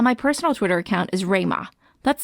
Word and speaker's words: Rui Ma: pan daily and my personal Twitter account is Ramah that's spelled rui ma my twitter is GI and